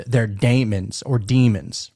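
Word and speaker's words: daemon: And so Frank may actually represent Donniey's higher self, his Damon or it's it's pronounced demon, but it looks like Damon.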